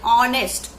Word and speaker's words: honest: Silent letters are there, like honest, Honest, honest. It is written as H, but we are pronouncing it as O, honest.